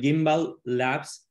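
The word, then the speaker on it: Gimbalabs: It's actually Gimba Labs. The name is to make honor to Cardano and his specification of the gimbal, which is this artifact that is used today in stabilizers for cameras.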